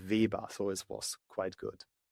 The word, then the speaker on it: Weber: Yes, it was quite good because I think in America it's pronounced like Weber with double B, but in Germany it's like Weber, so it was quite good.